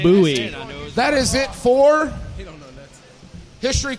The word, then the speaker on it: Bowie: Sam Houston that is an incorrect fact it's pronounced Bowie that is it for history questions are done